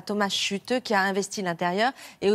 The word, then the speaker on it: Schütte: Il s'appelle Thomas Chute. Voilà. Thomas Chute, bah oui, il est allemand, donc il faut bien le prononcer en allemand, ce Thomas Chute.